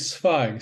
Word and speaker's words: Zweig: Well, first of all, it's Zweig, Stefan Zweig. Zweig. Thank you. German pronunciation, but all of these